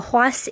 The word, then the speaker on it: Huace: Now, Huas, it's spelled Huace, and it is available there with English subtitles.